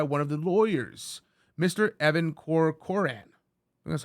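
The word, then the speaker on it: Evan Corcoran: notes made by one of the lawyers Mr Evan Coran that's how you say his name Mr corcoran's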